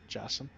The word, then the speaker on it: Jassim: How's J pronounced in in Arabic? Oh, that's Jim. Jassim.